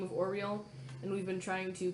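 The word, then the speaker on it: Auril: I kept saying Al-Ruin, but I was wrong. It's A-U-R-I-L. A-U-R-I. Oriole? A-U-R-I-A-L? Nope, A-U-R-I-L. Oriel. Oriel.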